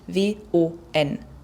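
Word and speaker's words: 원: Die koreanische Währung schreibt sich W-O-N, Won, wird allerdings ausgesprochen wie die englische 1, also Won.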